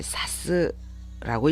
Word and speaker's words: さす: 근데 동사로 쓰일 때는 이것을 사스라고 읽습니다.